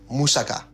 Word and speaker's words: moussaka: It's pronounced, just so everybody knows, moussaka. Not moussaka, it's moussaka. Moussaka?